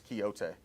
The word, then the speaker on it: Quixote: Parsons, it's Quixote, if you want to pronounce it correctly.